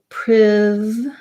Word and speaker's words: privileges: And then the challenging part, as you mentioned, is at the end we have the J sound together with the Z sound, and either an I syllable there or a schwa or almost no vowel at all. So it's going to sound like privileges.